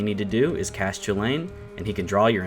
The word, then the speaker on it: Chulane: Alright, first up is Cody piloting Chandler's Chulane deck. And yes, I am aware that it is most likely pronounced Chulane, not Chulane, but I prefer to say Chulane.